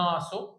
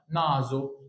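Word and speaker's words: naso: انطق بصوت الزين يبقى ما تقولش هنا ناسو غلط نازو زي الكلمه الاخيره اللي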